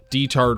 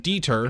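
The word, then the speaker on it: Diethard: I know what it sounds like, and I definitely thought it would be pronounced Deter, but it is not in the dub.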